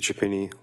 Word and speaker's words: Chiappini: My name is Chiappini. Last name is spelled C-H-I-A, P as in P as in.